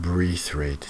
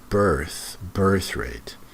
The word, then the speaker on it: birth rate: It's not breath rate, it's birth rate.